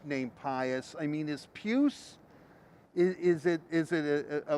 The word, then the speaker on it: Pius: you're from right because here the p it's p-i-u-s of course but in german it's pews so it's just the